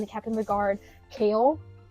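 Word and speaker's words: Chaol: captain of the Guard kale it's spelled c h a o l yeah it it's not or there's many pronunciations for it but it is pronounced Kale like the vegetable yeah yeah okay anyway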